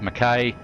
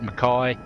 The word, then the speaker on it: Mackay: We're at, she pronounces it Mackay. Most people in Australia pronounce it Mackay, but it's tomato, pronounce it however you like.